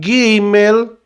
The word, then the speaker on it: Gimel: Então é a letra G, mas você lê como o G do gato, né?